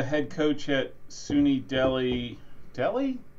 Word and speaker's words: Delhi: coach at SUNY Deli Deli do you just say it like Deli okay Delhi okay okay I was like Delhi isn't that India Delhi okay um since